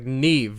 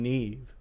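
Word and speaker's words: Niamh: yeah like uh here's a great example like neve nevis spelt n-i-a-m-h but nobody struggles seeing need for the first time and saying neve yes worst name on the planet n-i-a-m-h and they can get neve out of that like like i never mispronounced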